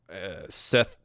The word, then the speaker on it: Saith: If you guys remember the 2 guys that come in, Seth, but it's spelled Saith.